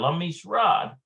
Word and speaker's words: למשרד: Yeah, lamisrad.